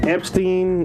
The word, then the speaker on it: Epstein: because there's an either doesn't mean it's not pronounced that way that is actually epsteen epsteen around whatever he's be